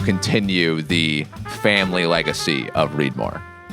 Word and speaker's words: Reedmor: family Legacy of reidmore it was always going to be readmore but it wasn't necessarily always going to be spelled the way that it's spelled so I'm sure Eagle ey folks will realize that uh read more is not spelled r e a d space m o r e on our sign and that was something